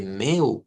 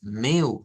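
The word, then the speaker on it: mel: como la palabra que hemos estado viendo de meu para la miel ve meu que se escribe m e l pero se pronuncia una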